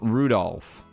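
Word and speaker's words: Rudolf: kinzo oh yeah anyway this guy's name is pronounced Rudolph he must hate grandfather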